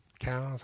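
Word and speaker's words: Coues: it sounds crazy but C's white tail cows however you want to pronounce I call them KO deer that's phenomenal meat it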